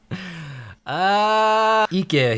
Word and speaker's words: Ique: Ique here. That's how you say it.